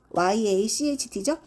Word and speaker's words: yacht: 이렇게 YACHT죠?